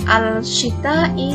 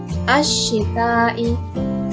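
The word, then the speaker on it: الشتاء: Maka cara membacanya harus diidghamkan. Jadi alif lamnya tidak dibaca tapi langsung masukkan ke dalam huruf depannya, yaitu shin. Bukan al-shita'i tapi ash-shita'i.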